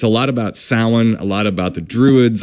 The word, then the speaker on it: Samhain: snotty or smoothie but it's salad it's not Samhain so a lot about it's a lot about salan a lot about the Druids a lot about